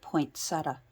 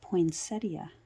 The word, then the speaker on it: poinsettia: For me, it's poinsettia. It drives me crazy when people say poinsettia. It's poinsettia. Yeah, it's named after a guy named Poinsett, who first discovered them